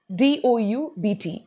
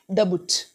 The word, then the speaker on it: doubt: other words like uh d o u b t it's doubt not dabut or dubit B is silent so that is like